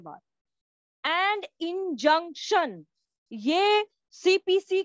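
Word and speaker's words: injunction: है डॉक्टर इन जंक्शन मुझे नहीं मालूम आप लोग इसको कैसे प्रोनाउंस करोगे लेकिन इसको इन जंक्शन प्रोनाउंस किया जाता है ठीक है हम कभी भी कोई स्टेशन पर जाते हैं तो जंक्शन आता है ना तो बस इन जंक्शन तो उसे तरीके से इसका प्रोनॉन्सिएशन होगा उसके बाद देखिए मैं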